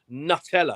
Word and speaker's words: Nutella: It's nut space and then the second syllable No, is that's L and then so the third syllable wrong. is Ella. You, sir, have been Nutella.